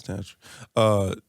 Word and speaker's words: Tantra: Yeah, it's Tantra.